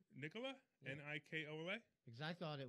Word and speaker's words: Nikola: i like apple is one of my favorites pronouncing it correctly nicola n-i-k-o-l-a because i thought it was supposed to